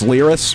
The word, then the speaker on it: Lyris: Now, Hung's founder, Lyris Hung, am I pronouncing her first name right? It's Lyris, right?